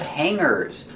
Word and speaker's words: hanger: have a lot of hangers. Remember the pronunciation. We don't say hanger. We don't make a hard G sound for the G. We pronounce it hanger with a sound in our nose.